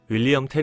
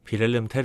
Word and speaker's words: 빌헬름 텔: 이렇게 극은 끝이 납니다 영어식 발음인 윌리엄텔 이라고도 알려져 있는 빌헬름 텔 은 실존 인물이 아닌 스위스